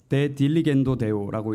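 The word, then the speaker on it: De diligendo Deo: 데 딜리겐도 데오라고 읽는 책인데요.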